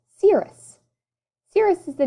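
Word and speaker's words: Sirius: one of these special dogs my name is pronounced cirrus cirrus is the name of the brightest star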